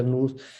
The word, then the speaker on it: nous: O el nous, o nous, que se escribe nous, se pronuncia nous, ¿sí?